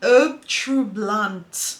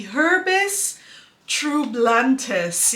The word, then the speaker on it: Herbes Troublantes: Oh, if we say it as English-speaking people, it would be HERBES Troublantes, yeah, but I believe it's Herbes Troublantes.